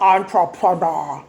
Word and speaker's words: entrepreneur: 그래서 강세가 너에 있습니다. entrepreneur 기업가란 뜻이야.